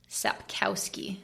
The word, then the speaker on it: Sapkowski: the author is um Andre sapkowski I believe is how it's pronounced so I had you